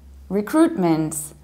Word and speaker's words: recruitment: means that what happens you don't say rap you say riff then you have crew and then you reaches the ending mint recruitments in the fast speed you can actually drop this middle T and say recruitment recruitment and and the American